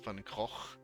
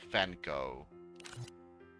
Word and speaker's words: Funko: were doing it wrong maybe i should teach you all how to pronounce things it's it's not fan go like he's not going anywhere too late you have my